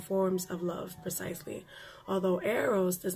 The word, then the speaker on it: Eros: arrows and he says here arrows print is pronounced arrows which is a love that is physical and